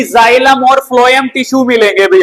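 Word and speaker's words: xylem: तो उसमें पढ़ा था जो जाइलम होता है भाई ठीक है इसका मतलब होता है एक्स वाई एल ई M English में यही स्पेलिंग लिखते हैं हम ठीक है जाई का मतलब होता है क्या?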